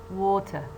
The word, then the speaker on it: water: as in the word water, water. See? Water, water. The word contains two syllables. The first syllable wo and the second syllable te. Which one is weaker? Of course, the one that contains schwa.